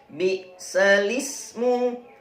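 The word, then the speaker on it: بئس الاسم: Ditulis 'bal ismu', dibaca 'bi'lismu'. Tanda diakritik pada ' al ismu' ditukar menjadi 'lismu'. Bi'lismu.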